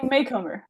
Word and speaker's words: Macomber: how to say it oh yeah tell me makeover makeover thank you something like that yeah I've been